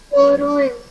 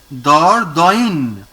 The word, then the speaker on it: Dordogne: Doin. No, Dordogne.